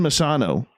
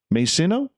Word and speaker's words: Masino: Masano, or Masino? Masino or Masano? No, not Masano. That's pronounced wrong. Masino.